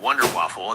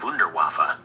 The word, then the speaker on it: Wunderwaffe: It's a playful mispronunciation of Wunderwaffe, which is the German term for wonder weapon.